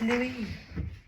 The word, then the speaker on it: Louis: Well, in French, Yeah. it's Louis. Louis.